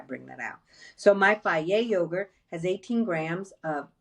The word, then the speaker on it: Fage: A lot of you would pronounce that phage. It's Fage. I say that not to say, hey, you're calling it the wrong thing.